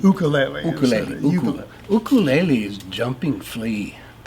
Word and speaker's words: ukulele: And you say it like a Hawaiian, ukulele.